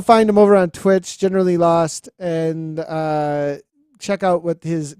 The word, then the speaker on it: GeneralElost: So the reveal that I always do, and I had somebody that for 6 years didn't realize it, is it's a pun. It's generally lost, as in I need a map because I can't find myself.